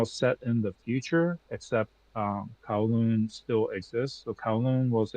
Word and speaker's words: Kowloon: Yeah, like KOW, like cow, like COW, Kowloon. Although I believe in it's Cantonese. In Cantonese, it's more like Gao Loon.